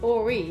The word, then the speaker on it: Horry: an H but it's Orie the H is silent yes it is very